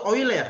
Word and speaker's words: Euler: Bacanya itu Euler ya.